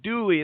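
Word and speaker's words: Dulli: I was like, Greg Dully from Afghan Wigs. How do you pronounce his last name? He goes, "No, it's Greg Dooley.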